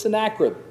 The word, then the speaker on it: Sennacherib: the king of Judah, that Sennacherib, and that's how you pronounce it. I'm sorry, and I even have trouble remembering it. Sennacherib or Sennacherib? It's Sennacherib. It's always Sennacherib. If I ever say Sennacherib again, just raise your hand.